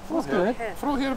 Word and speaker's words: Frohe: Frohe Weihnachten.